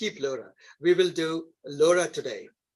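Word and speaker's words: LoRA: add the Laura paper Laura literally is pronounced like written like that with a little o it stands for low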